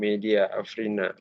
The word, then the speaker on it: Media Afrina: kita sudah bersama Ibu Media Afrina. Benar ya Bu ya namanya ya Bu ya? Iya, Pengucapannya maksudnya. benar. Benar Bapak.